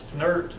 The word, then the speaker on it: FNIRT: There have been a variety of volumetric registration strategies, most recently nonlinear registrations such as FSL's FNIRT is how it's pronounced, This is a nonlinear volume atlas that